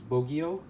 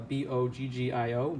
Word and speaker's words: Boggio: bonding works was uh the last name was bogeyo uh b-o-g-g-i-o bogeyo boggio uh however you pronounce that maybe italian so i